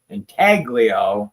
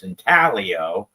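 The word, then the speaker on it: Intaglio: say their name because everybody was always saying Inaglio and it's Inalio. So they ended up doing a bar that went literally trying to tell you how to say it. Inalio. That's what they did because everybody always said Inglio and we were all saying it wrong.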